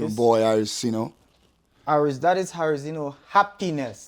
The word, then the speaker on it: Arosino: That is Arozino, happiness. If you want me to spell it out for you, A to the R to the O to the SINO, Arosino.